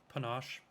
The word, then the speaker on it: panache: something more panache, Okay. which is how it's pronounced according to YouTube. Panache, like ganache.